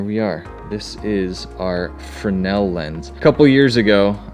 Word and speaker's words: Fresnel: TJ hunts channel and I said Fresnel because that's the way that it's spelled if you just start the beginning and go through you have people got all bitter